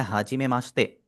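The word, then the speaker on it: はじめまして: इसकी प्रोनाउंसिएशन आप देखिएगा, इसको मैं किस तरह प्रोनाउंस कर रहा हूँ, हा जी में माश्ते।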